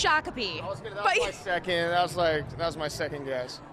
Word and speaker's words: Shakopee: Do you know how to pronounce this town? This is a town in Minnesota. Just take a stab. Shakopee. It's Shakopee.